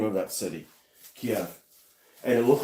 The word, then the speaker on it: Kiev: Yeah, that's how you pronounce the name of that city, Kiev.